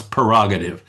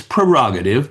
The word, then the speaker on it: prerogative: prerogative, you know, it's it that's actually the word that we all pronounce prerogative, but it's prerogative.